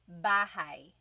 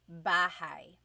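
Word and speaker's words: bahay: You might notice that the spelling is a y at the end. So it looks like bahi, but it's pronounced bahi. That ay combination is bahigh.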